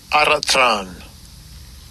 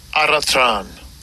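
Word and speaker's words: ἄροτρον: And I'll bring the word pronunciation out. Strong's G 723. Aratran. Aratran.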